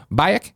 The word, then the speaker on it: Bayek: I just platinumed Assassin's Creed Origins after 66 hours, and like Andrea, really enjoyed the story, particularly the relationship between Bayek and Aya."